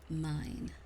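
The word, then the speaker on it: Myne: the main character's name so urano has become mine and it's spelled m-y-n-e instead of like mine like Minecraft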